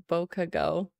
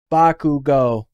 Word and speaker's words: Bakugo: Again, I love the trio, the Deku, Shoto, and Bokugo. Bakugo or Kachan.